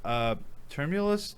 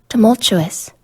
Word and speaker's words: tumultuous: now and it's been a thrilling and harmonious term ulis turn term oïleus how do you say that word Tamales I've only ever spelled it term o leus okay well this doesn't help me tumultuous tumultuous Wow tumultuous tumultuous no choice there you